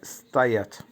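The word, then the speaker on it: стоять: Verb স্তায়াচ, স্তায়াচ, উচ্চারণ হবে স্তায়াচ, দাঁড়ানোকে স্তায়াচ বা স্ট্যান্ড, স্ট্যান্ডকে স্তায়াচ বলে, উচ্চারণ হবে স্তায়াচ।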